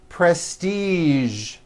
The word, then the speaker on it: prestige: television very good now there are only a few words that have the voiced sound at the end a few of these words are the color beige the word massage and the war prestige okay now that you